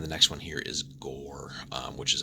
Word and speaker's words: Ghoere: next one here is gore which is actually pronounced that way with again all the weird sort of spelling conventions and stuff that the setting has but gore so another one that